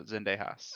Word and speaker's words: Zendejas: the United States uh I think it's it's Zendejas right is that how you say his name his last name yeah Alejandro Zendejas yeah Alejandro zantejas declared